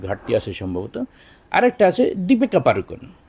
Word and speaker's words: দীপিকা পাডুকোন: আরেকটা আছে দীপিকা পাড়ুকোন, আমরা বলে ফেলাই সহজে দীপিকা পাড়ুকোন, কোনো টান টুন নাই, কোনো ইয়ে নাই, আবার সঠিক উচ্চারণটা নাই। এটা মূলত উচ্চারণ হবে দীপিকা পাডুকোন। দীপিকা পাডুকোন। এখানে আমরা লক্ষ্য করলাম কি, পাড়ুকোন হবে না, পাডুকোন। ডয় রস্যকারে এখানেও টান হবে একালিপ সম পরিমাণ, পাডুকোন।